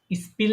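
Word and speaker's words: Spiel: তখন এটার উচ্চারণ স এর মতো হয়। যেমন স্পিল না বলে এটাকে কি বলবেন?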